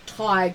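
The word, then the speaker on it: Tadhg: things like you know a name like tag which is spelled t-a-d-g-h or HG when you're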